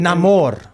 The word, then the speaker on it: Namor: Namor. Is that how it's pronounced now?